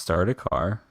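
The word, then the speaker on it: Sardaukar: jeez okay what is it um okay it's pronounced start a car um for the the uh the warriors in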